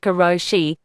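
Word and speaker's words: karoshi: in Japan there's a stress phenomenon called kuroshi pronounced kuroshi which is translated literally as death from overwork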